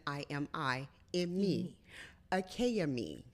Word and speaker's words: Akaimi: dialect it is pronounced akayami so every single letter of my name is pronounced my name is spelled a k a a k and then i am i in me achaomi right so that is